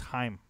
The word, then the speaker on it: Haim: It's Haim. Haim. It's Haim.